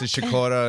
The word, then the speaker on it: Sikora: say Sakura I mean that's the polish pronunciation what I get stuck you know I get the business from my father who's just like what are you doing you're an American wait that's my grandmother of pronounce chacorta and I love that